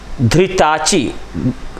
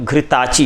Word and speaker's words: घृताची: इसके बाद क्या हुआ कि इसी च्यवन से प्रमति और धृताची, धा नहीं है घा है, घृताची, ये हमारा उच्चारण बच्चों